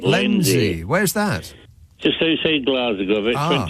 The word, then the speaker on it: Lenzie: That's how you pronounce it. You've got it right. Lenzie.